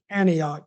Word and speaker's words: Antioch: How do you even pronounce this? Antioch, Tennessee. Antioch.